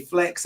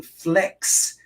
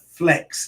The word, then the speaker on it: flecks: white flecks that, and when I say flecks, I'm not meaning flex, like you flexing something, but flecks, which are, I guess they rhyme with specks, but they're like little